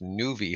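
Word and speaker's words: Nuvve: And believe this company is pronounced Nuvi Holdings, and they are an electrical bus maker.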